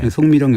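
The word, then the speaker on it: 宋美齡: 당시 그 국민당 장제석 주석의 부인인 쑥메이링이라고 하는데 우린 발음은 송미령이라고 하죠. 송미령 여사가 미국 그 뉴욕 브롱크스 동물원에 그 판다 한 쌍을 기증하면서 시작됐다고 합니다.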